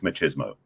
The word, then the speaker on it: machismo: My belief is what people are attached to, many men are attached to, isn't masculinity, it's machismo. Yeah. And the challenge is machismo. Say it like the Spanish Latino.